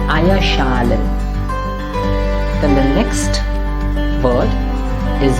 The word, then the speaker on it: Eierschalen: So Eierschalen. That's a compositum there, so Eier should be pronounced. Eier should be stressed. So it's Eierschalen.